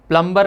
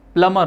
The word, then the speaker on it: प्लमर: प्लम्बर गलत, प्लम्बर नहीं होता, प्लमर होता है, उसमें बी साइलेंट होता है।